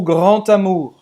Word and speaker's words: grand: Não sei porquê, a gente pronuncia como se fosse um T. Le grand amour. É um D, mas se pronuncia como se fosse um T. Le grand amour. Geralmente a palavra grand, quando vem depois com uma palavra que começa com vogal, esse som de T.